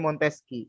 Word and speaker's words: Montesquieu: kalau namanya Montesquieu ini tulisannya Montesquieu Montesquieu ya tulisannya begitu tapi dibacanya montesqieu nah konon kalau misalnya